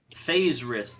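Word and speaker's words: faerzress: it's a boss fight ugh all right so phase wrist that's what that shit's called yes phase wrist it's spelled weird fa I don't know if I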